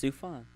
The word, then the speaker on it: Sufjan: It's Sufjan. Yeah, I don't know. But I would love to see him at the Oscars. Just weird ass Sufjan Stevens.